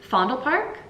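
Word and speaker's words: Vondelpark: for the h holidays fondal Park uh vond Park um they pronounce V's like FS here um but vondal park is kind of like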